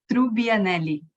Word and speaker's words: Trubbianelli: would be turning in her grave if I mispronounced your name. It's Trubbianelli. All right. So Isabella Trubbianelli has joined us here, and thank you for helping me with that.